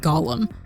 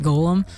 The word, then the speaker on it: Golem: is created by oh actually they always pronounce it golum maybe see like is that the like is that like the English pronunciation and then like Americans pronounce it Golem I don't know for